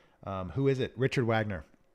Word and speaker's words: Wagner: is it Richard Wagner he's German so it's actually Richard Wagner so Wagner is one of my favorite um you could say Wagner I guess but Wagner is the right way to say it um and it's that